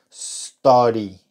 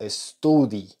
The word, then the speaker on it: study: una e al principio decimos study no studi sino study esta u no suena como una u sino como una a reducida una a